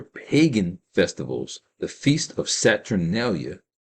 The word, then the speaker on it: Saturnalia: One of Rome's major pagan festivals, the Feast of Saturnalia, that's spelled like Saturn and Alia at the end, Saturnalia, was held on December 25th around the winter solstice.